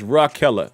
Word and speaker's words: Raquella: It's pronounced like member Ray Keller. It's hard to say. Oh, okay. Okay. And I still could be saying it wrong. So if you could tell me, is it, oh, you said, okay, R.A., so it's Raquella.